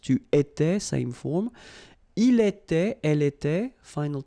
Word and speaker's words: il était: J'étais, so final S not pronounced. Tu étais, same form. Il était, elle était, final T not pronounced.